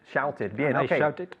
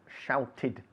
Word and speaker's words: shouted: street and I shouted shouted very important the verb to shout ends in a t and therefore as it's regular the pronunciation of the past is shouted okay we pronounce the